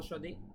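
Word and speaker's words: صاد: এইচ অথবা বাংলায় তালব্য সদি সেটার মত এই শিনের উচ্চারণ তারপরে রয়েছে সদ এটা শুধুমাত্র আরবিতেই স্বতন্ত্র বাংলায় এটার উচ্চারণ পাওয়া যায় না সদ সদ সদ ঠিক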